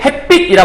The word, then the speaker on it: 햇빛: 햇빛이라 발음하죠. 햇빛? 햇빛? 일단은 명사 결합한 거라 될 수 있을 것 같아. 그지? 그 다음 햇빛, 빛이니까 된소리 발음되는 것 같아.